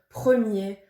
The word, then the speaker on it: premier: fin de certains mots de certains adjectifs comme premier ou dernier on ne prononce pas le 1er mai l'association du e